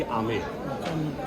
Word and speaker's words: आमेर: आमेर में एक शब्द जो है वो साइलेंट है, क्योंकि हम लोग बोल नहीं पाते हैं, उसको बोलते हैं बी को ऐड करेंगे तो हो जाएगा अंबर, लेकिन आम पब्लिक क्या बोलती है यहाँ की?